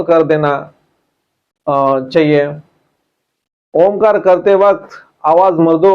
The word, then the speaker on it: ओम: ओम का उच्चारण होते समय हमारा मानो लंबा रेचक ही होता है।